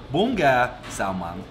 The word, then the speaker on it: Bún Gà Xào Măng: Like what actually pronounced Bún Gà Xào Măng.